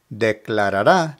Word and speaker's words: declarará: Now, because the accent is over the A at the end of the word, the pronunciation is declarará. Declarará.